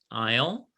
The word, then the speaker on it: isle: help me ayala yes aisle isle and which letter is not pronounced s excellent excellent okay number